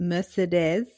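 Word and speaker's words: Mercédès: It's Albert and Mercedes, which is how my audio narrator pronounced her name. I would have said Mercedes.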